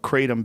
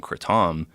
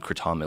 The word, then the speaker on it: kratom: they made Crotona leaves not the right way to say it because people say kratom yeah you're the only one I've heard sacred Tom people in it's a Thai word people in Thailand call it critic so people in the u.s.